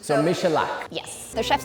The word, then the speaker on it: Michalak: I don't know how to pronounce that. I'm sorry, you do this. Michalak. So Michalak.